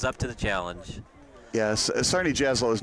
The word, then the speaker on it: Czarni Jaslo: So that was according a to Recruit Links, the team name, it's pronounced Czarni Jaslo.